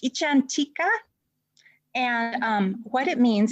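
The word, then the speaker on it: icchantika: uh this word it's a foreign word it's pronounced ichantika and um what it means is a person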